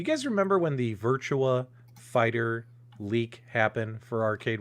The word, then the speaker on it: Virtua: hard time because i kept pronouncing virtua wrong i was saying virtual fighter you know what i